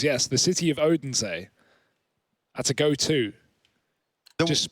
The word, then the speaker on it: Odense: You know, one side, you go to Odin... sorry, I can never say the name. Odense.